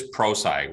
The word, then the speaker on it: Prosci: you don't know about prosci and it is proside we get often asked how do you pronounce it and it's it stands for professional science so the firm's been